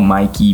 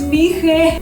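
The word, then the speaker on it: Mỹ Khê: So as you can see, we are overlooking the beach, and this beach is called Mikey Beach. It's Mihe. What?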